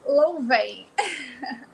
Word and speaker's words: Louven: enfim acompanho sempre e o meu nome se pronuncia louven não é difícil vai é fácil é fácil é fácil a gente estava na dúvida entre louven ou luvan uma coisa mais afrancesada